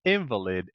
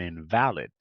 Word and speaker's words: invalid: his Noble effort yes we have invalid and invalid right uhuh invalid invalid that's right an invalid is a person who can't walk right and invalid is something that is not valid doesn't have any any any value so the invalid has